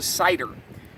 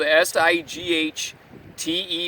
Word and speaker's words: sighter: What I do have is what's called a sighter, and that's spelled S-I-G-H-T-E-R. I believe I got that right. Not like apple cider. Your internet searches are going to be all messed up. It's a sighter like my sight.